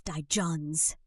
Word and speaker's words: divergence: Three syllables with the stress on the second one. So, slowly it's di-johns.